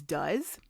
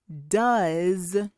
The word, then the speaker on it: does: But after the first letter, there's O, E, and S, but they sound different.